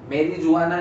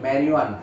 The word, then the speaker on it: मैरिजुआना: ठीक है, इसके बाद कैनाबिनॉइड्स में आता है बेटा भांग, गांजा, हशीश, चरस, मैरिजुआना नहीं, मैरिजुआना. ठीक है, इसको प्रोनाउंस ऐसे करते हैं.